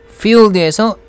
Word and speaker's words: fueled: Fueled에서 D는 거의 발음이 들리지가 않네요. 그래서 Fueled by an 이렇게 하는 것 같습니다.